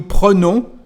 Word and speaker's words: prenons: And this N is going to change the pronunciation of the letter E before. So instead of prend, here we've got pre. Nous prenons, vous prenez.